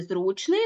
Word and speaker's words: зручний: третій склад До речі в слові зручний наголошений перший склад тобто наголос може бути